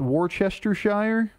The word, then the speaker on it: Worcestershire: It's pronounced Worcestershire.